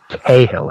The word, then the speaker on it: Cahill: issue that Cahill does, it's Cahill, I believe it's pronounced. I had a discussion with him about the pronunciation of his name at Marco. Because I'm Irish, so I would say Cahill. But American, yeah, he's just Cahill, yeah.